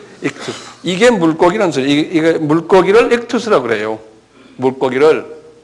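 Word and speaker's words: ΙΧΘΥΣ: 그래서 이게 어떻게 되면 이크 투스 이렇게 쓰죠. 이크투스 한번 발음해 보세요. 예. 이게 물고기라는 소리. 이게 물고기를 익투스라고 그래요.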